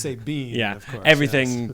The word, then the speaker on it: Sabian: Sabian spelled Sabian. But pronounced Sabine, yeah, of course.